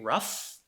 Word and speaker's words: rough: It ends with spelling GH, but when you hear it, rough, it ends with the sound F. So no matter how it spells, it ends with this sound F and face, which is voiceless and labial dental.